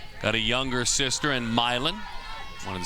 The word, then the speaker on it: Milan: Got a younger sister in Milan. Wanted to say it right there. That one is popped foul. Milan's in Italy. Milan's in Illinois. She dreams of Auburn someday, one of her dream schools.